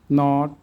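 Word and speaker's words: knit: English ওয়ার্ডে এন এর আগে কে থাকলে কের উচ্চারণ সাইলেন্ট থাকে, অনুচ্চারিত থাকে। নি, নট, নিট, নো, নাইট, নাইফ, knowledge. আমরা এবার অর্থগুলো শিখি।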